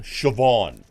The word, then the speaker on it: Siobhan: have to deal with everyone's like isn't it pronounced S no it's a it's a Gaelic word it's like the Gaelic name shobon if you see it spelled you'll notice shobon